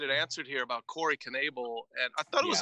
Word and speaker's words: Knebel: It's good for a broadcaster to say Knebel with the K. There's a lot of poetry in that.